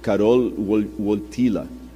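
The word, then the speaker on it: Wojtyła: e o Carol ortil eu pedi alguém que fala polonês para me corrigir a pronúncia e cartila que era o nome do Papa ele sofreu muito na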